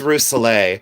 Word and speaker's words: Rousselet: This is Rousselet, and I pronounce it, oh, please stay positive, honey.